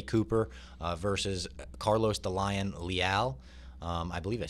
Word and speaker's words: Leal: We've got 2-time welterweight champ Ray Cooper versus Carlos the Lion Leal. I believe I said that right? Yep. Did I? Yeah. Al rhymes with pal?